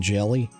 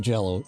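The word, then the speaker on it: Jell-O: Because I still, it makes me cringe every time somebody calls green jello, green jelly. It's green jello, y'all. Like, I know he has to spell it different, but it's green jello.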